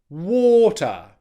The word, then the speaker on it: water: I don't want you to make the first syllable with extra stress. Instead, what I want you to do is make the second syllable with less stress. Okay? With that schwa in the second syllable, that means that it's a very weak syllable.